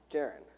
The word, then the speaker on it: Jaren: here tells me that her name rhymes with, and she said Aaron, and I went, and now I can't remember, is it Jaren? Jaren said rhymes with Aaron.